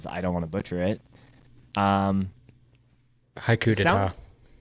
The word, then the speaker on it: Haiku d'Etat: I said I was gonna write this down, how to pronounce it, so I'll just say this one, because I don't want to butcher it. Haiku d'etat. Haiku d'etat.